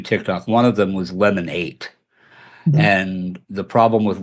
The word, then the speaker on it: Lemon8: That's Lemon8, as in the number 8, Correct. not Lemonade, as in Correct.